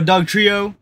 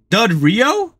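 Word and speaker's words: Dugtrio: cedra d Doo evolves into a Doug Trio wait a minute dud Rio dude I've been saying it wrong for like 10 plus years got Max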